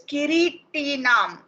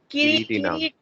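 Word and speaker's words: किरीटिनं: It's Kiritinam. Kiritinam. Because wherever there is a mark over a alphabet, it's a long one. Long one. Over the I, there is a diacritical mark, right?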